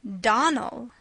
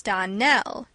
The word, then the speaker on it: Donnell: you pronounced our name Donal now miss surely the correct pronunciation of our name is Donell Accent on the last syllable I hope you remember